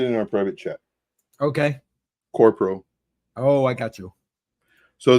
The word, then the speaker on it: QORPO: The only one that I do have a little bit of is I think it's pronounced Corpro, QORPO.